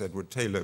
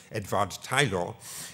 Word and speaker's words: Edward Taylor: man called Edward Taylor or at least I pronounce him as Edward Taylor but he should be properly pronounced edad Tyler um who although he has this beautiful name